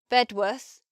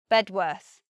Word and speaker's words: Bedworth: Worth becomes 2 pronunciations, either worth, similar to muth, or worth, but not a long just a worth. Tamworth, Farnworth, Bedworth. First pronunciation, worth. Second pronunciation now, Tamworth, Farnworth, Bedworth. Slightly different.